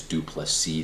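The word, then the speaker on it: du Plessis: Robert Whitaker versus dreycus dupless C the S is silent this was the most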